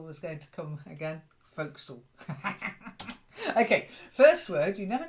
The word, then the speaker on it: forecastle: that The Forecastle was going to come again folksall okay this word you never know you might